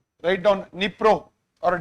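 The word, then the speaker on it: Dnipro: Nippro or D is silent.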